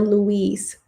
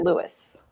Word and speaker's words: Louis: I was listening to it and they pronounced it Lewis. Okay. But I can see why it would be confusing if you were just looking at it. I've heard some people say Louise, and that threw me